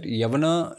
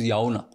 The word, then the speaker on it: Yavana: Yavana शब्द जो है when you mispronounce it, it becomes Yauna.